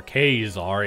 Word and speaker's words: Caesar: kind of tore between Caesar and scarlet or kazar if you want to pronounce it correctly in Latin ties are or scarlet